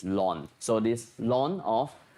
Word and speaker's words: ln: e is ln and very often ln is pronounced as lon so this long of